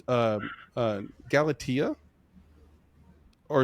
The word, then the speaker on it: Galatea: it pronounced um uh Galatia or is it pronounced Galata? Yeah, Gala. See, come on, man. You got to throw that the accent on on there, you know. Galatea, which is I believe